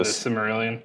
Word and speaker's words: Silmarillion: I don't know how you pronounce that book. The Silmarillion?